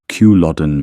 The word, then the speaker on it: Culloden: their way with us at the Battle of Kewlodden Moor — 5 [Culloden: kuh-LOD-en | Moor: rhymes with "more"] they had to dash our spirits